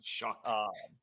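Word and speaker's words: Shough: I guess I guess it's like an ear of corn like sh. Yeah, I guess it's CK is the gh makes makes a CK sound supposedly.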